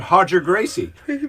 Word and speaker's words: Roger Gracie: so today's seas today is from hodger gracie and that's spelled roger gracie uh because in brazil they pronounced the rsh so hodger gracie said uh jiu jitsu